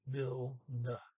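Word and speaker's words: bildet: It's bilda. Okay, the trailing E is like an as in up.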